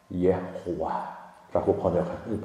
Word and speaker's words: 예호와: 예호와라고 발음하는 거야.